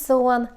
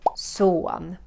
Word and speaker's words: son: which is sun means so on my son written just like english that pronounced the swedish way so one and doctor again very